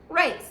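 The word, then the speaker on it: Rayce: is rice r-a-y-c-e and it's pronounced race like r-a-c-e race means counselor in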